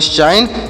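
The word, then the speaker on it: sign: पढ़ेंगे न इससे पढ़ेंगे साइन जी साइलेंट है इसे नहीं पढ़ेंगे साइन साइन मतलब क्या होता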